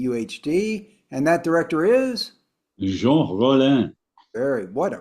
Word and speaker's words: Jean Rollin: Indicator on 4K UHD, and that director is Jean Rollin. what a pronunciation. That's Merci beaucoup, monsieur. thing of beauty. I'd call him Gene Roland.